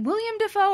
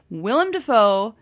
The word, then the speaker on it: Willem Dafoe: played by william defoe is it william defoe or willem that's what i thought and i was tripping myself up earlier and then i said it wrong willem dafoe fantastic aren't you doing